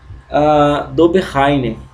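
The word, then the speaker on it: Döbereiner: em 1820 com cientista alemão chamado de johann dobereiner tá é essa pronúncia mesmo johann dobereiner tá então qual foi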